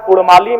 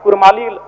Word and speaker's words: कुड़माली: है उनकी परंपरा है ठीक उसी प्रकार कुड़माली में अभी कुरमाली र उच्चारण होता है वर्तनी में जबकि वह